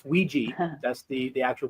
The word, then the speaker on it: Ouija: not Ouija Ouija it it's a it's Ouiji that's the the actual pronunciation for it okay there there